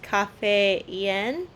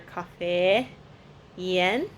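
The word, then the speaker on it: กาแฟเย็น: Anyway, so she said that it's pronounced cafe yen. You're just like supposed to really enunciate the e under cafe yen.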